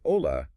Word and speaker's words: hola: When you say hola, that H is silent.